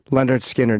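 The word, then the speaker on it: Lynyrd Skynyrd: Leonard Skinner is how you pronounce that. Leonard. No, not Leonard. Because it rhymes with Skinner.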